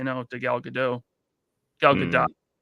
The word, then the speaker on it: Gadot: She's like, it's Gadot. And well, it's been saying Godot for years. She's like, it's Gadot. You not see the T at the end?